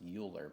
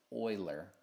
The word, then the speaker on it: Euler: to me it looks like you should be pronounced euler but it's actually the proper pronunciation as euler euler angles there's roll pitch yaw three points